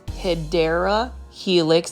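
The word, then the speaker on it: Hedera helix: a HRA helix or the way correct way to say it is hyera Helix this is an English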